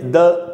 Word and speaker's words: the: Table का टी एक consonant है, बुक का बी एक कॉन्सनेंट है, तो टेबल के पहले या बुक के पहले THE यूज़ किया तो उसका प्रोनाउंसिएशन होगा द। तो दो रूल अभी तक हमने सीखे कि अगर कोई वर्ड किसी वाउल से शुरू हो रहा हो, उसके पहले THE हो तो उसको दी पढ़ना चाहिए।